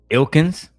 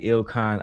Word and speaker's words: Ilkan: Ilkins? Ali? Now you understand that they don't understand how to pronounce basic vernacular. It's clearly Ilkan Ali.